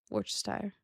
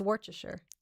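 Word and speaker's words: Worcestershire: Worchshire. No. What is the actual word? It's warter. Wartershire sauce is how it was spelled. Yeah, it's warcher.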